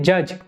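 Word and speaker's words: judge: बार आ चुका है इज the silent letter इन जज जज में साइलेंट लेटर क्या है तो जो डी है ना वो साइलेंट है ठीक है ये क्वेश्चन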